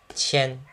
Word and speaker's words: 千: It's a very simple character to write, but notice the pronunciation is qian, not qian. It's qian. It's pronounced in the back of the throat. Not back of the throat, but back of the teeth.